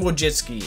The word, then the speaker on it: Wojcicki: don't know how to say her name Susan wojcicki is how you say it but it's been